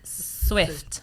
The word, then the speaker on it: Swift: La S in inglese a inizio parola è sempre Silvia e mai Rosa. Quindi si dice Taylor Swift, non Quindi Taylor non è Swift.